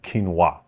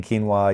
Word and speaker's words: quinoa: people in the in the U.S who eat quinoa and then you were to sort of um